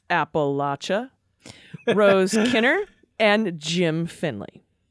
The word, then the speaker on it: Appalachia: debater Kyle from Appalachia in Appalachia we pronounce it Appalachia Rose Kenner and Jim